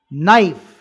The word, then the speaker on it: knife: silent comb be silent knife K silent soften tea silent psychology